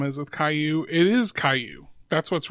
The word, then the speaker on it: Caillou: to spell his name it is spelled c a i l l o u it's a French word which means stone or Pebble okay at first I